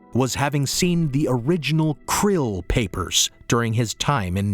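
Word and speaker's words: Krll: His name and title was his omnipotent Highness Krill, pronounced Krill, spelled K R L L C R L L.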